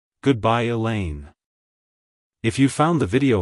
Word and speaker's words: Elaine: Helen it's pronounced as Elaine elain Elaine to pronounce it correctly emphasize the lane and make sure to pronounce the the sound as a long e like hello Elaine goodbye Elaine if you found the